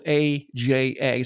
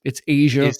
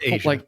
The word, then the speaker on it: Aja: So it's spelled AJA. So if you never knew how to pronounce it, like Aja, or it's Asia, it's Asia, like the continent.